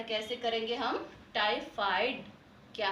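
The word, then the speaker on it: टाइफ़ाइड: Okay, तो इसे कैसे, इसका उच्चारण कैसे करेंगे हम? टाइफाइड।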